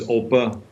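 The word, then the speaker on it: Opa: grandpa or the oppa in german it's oppa i i i'm really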